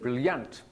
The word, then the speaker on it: brilliant: Brilliant. No. Brilliant. Stress one or two? One. Yeah, 2 syllables, brilliant. The stress, Brilliant. one.